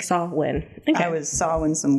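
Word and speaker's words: Samhain: I was like wait how do you even pronounce that oh sawin like saw win okay I was sawing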